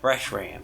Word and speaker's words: Reshiram: I think that's the way you pronounce it. Reshiram. Wait, let me see. Yeah, Reshiram.